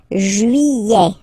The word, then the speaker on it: juillet: Juillet, okay, you get this double L here, juillet, juillet, juillet, don't pronounce this final T, E-T here at the end, E, juillet, juillet, it's July.